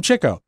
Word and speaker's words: Chico: hear chico you know you hear it pronounced both ways and i think groucho said are you trying to be like uh you know uh in the know with your pronunciation because i picked up on that you kind of tried to get away he got his name for chasing chicks and so that's why they called him chicko is chicko and the